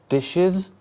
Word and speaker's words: dishes: Dish, how many syllables? 1, Dishes, 2.